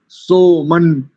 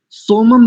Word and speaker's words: सोमन: सोमन, सोमम नहीं करेंगे। पदच्छेद में यदि अर्थ करना होगा तो सोमम हो जाएगा, लेकिन यहाँ सोमन नकार का साउंड आएगा।